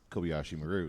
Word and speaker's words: Kobayashi Maru: And so what a great fun time of everyone correcting everyone else's pronunciations on the project. But you had the Kobayashi part right because it's Kobayashi Maru.